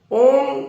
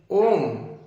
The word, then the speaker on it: ओम: अ, उ और म, इसमें 3 अक्षर है। अ का उच्चारण मुंह के आदि से होगा, कंठ के आदि से होगा। उ का उच्चारण मध्य से और म का उच्चारण मुंह को बंद करके होगा।